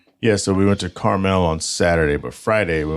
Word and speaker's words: Carmel: so we went to carmell on Saturday but Friday we went to Quail anybody anybody east of the Mississippi is going to go caramel so just well caramel